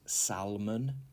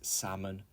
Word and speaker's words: salmon: okay 20 is salmon the L is silent it is not salmon it is salmon and this is a